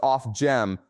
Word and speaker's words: Ofgem: I checked Resolution Foundation and Ofgem, pronounced Ofgem, on the UK energy shock.